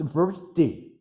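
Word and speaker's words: vṛtti: Well, the R with a dot at the bottom is actually a vowel. It's erotic slur. It's vritti.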